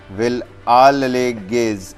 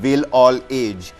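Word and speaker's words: Wellalage: And why I'm saying, because, you know, the English pronunciation would have been will all age, which is a proverb, but Vilalage's.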